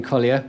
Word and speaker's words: Colyer: morning paper and maybe my name colia which is spelled c o l ye r or it's at blog.